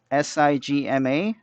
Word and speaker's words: sigma: this greek letter right here is spelled as s i g m a pronounced sigma you should know them alright so what